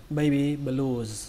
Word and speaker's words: baby blues: ta dùng từ này Baby Blues anh ở đây chữ đầu tiên các bằng lưu ý là trọng âm của nó rơi vào âm đầu tiên âm bass Anh không